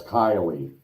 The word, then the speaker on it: Kylie: That's Kylie. That's how you pronounce that. That Randy is Yeah. Kylie. Kylie, okay. Because Shannon did the same thing, and somebody had to correct her on one of her videos. She kept saying Kaylee, and I said, "No, Shannon, it's Kylie."